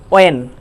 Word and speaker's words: when: Want, what are doing here, এক্ষেত্রে তাহলে এই উচ্চারণটা কিন্তু আমাদের ভুল হয়ে থাকে। দ্বিতীয় আরেকটা দেখে থাকি WHEN, আমরা বলে থাকি হোয়েন।